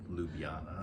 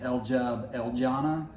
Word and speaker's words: Ljubljana: Ljubljana. So I was always saying Ljubljana, just so I could remember how to spell it, but I think it's Ljubljana. Yeah.